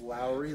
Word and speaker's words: Lauri: a good song but his name's not being pronounced right it's Lowry like Kyle Lowry or Mike Low Mike